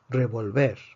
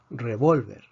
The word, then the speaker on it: revólver: aquí tenemos tres sílabas revolver termina en una consonante que no es ni en n s predecimos que la fuerza está en la última sílaba si está en la última sílaba no necesita acento de excepción revolver revolver revolver termina